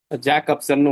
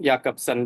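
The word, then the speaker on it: Jakobson: Roman யாக்கப்சன், ஜாக்கப்சன் வரும், யாக்கப்சன் தான் pronounce பண்ணணும்.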